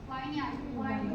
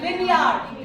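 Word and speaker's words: vineyard: worm this is वम वाइन यार्ड this is विनयार्ड विनयार्ड okay never say वाइन यार्ड इट is what विनयार्ड then बो जल्दी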